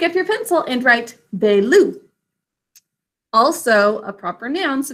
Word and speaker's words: Baloo: Say it with me. Baloo, 2 syllables. In the first syllable, it's B-A, 2 sounds. A is in an open syllable saying its name. Second syllable is L-oo. What makes the oo sound in that word? Dikshita? Ooh and book. Good. It's like the oo in book, but we say ooh.